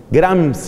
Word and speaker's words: Gramsci: se llama antonio gramsci se escribe g r m s c i grans y éste antonio gramsci